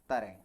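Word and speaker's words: तराइन: Battle बता देता हूं कौन सी है, दैट वाज बैटल ऑफ तरेन। बैटल ऑफ तराई, तराई कह सकते हैं, battle of तराई, correct explanation pronunciation ये है, ठीक है।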